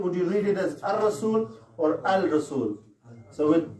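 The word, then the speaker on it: الرسول: So you read it as Ar-Rasul, the Lam is silent. So if it's Shamsi letters, the Lam is silent, and if it's Qamari letters, the Lam is not silent.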